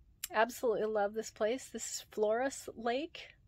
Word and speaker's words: Floras Lake: love this place this flores lake which is really hard when you spell it it looks like flora's so it's really hard to say flores flores lake um boyce cope